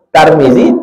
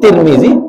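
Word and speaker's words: Tirmidhi: membacanya atas bawah ada siapa nama kau tarmizzi nama kau tirmizzi nama kau turmziah yang mana betul tiga betul Tarmizi tirmizzi turmuzi tiga-tiga itu itu siapa Pak Basri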